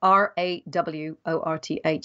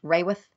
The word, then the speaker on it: Raworth: And Raworth is spelled R-A-W-O-R-T-H. So it looks like Kate Raworth, but it's one of those funny English names where we stick a Y in it when we say it.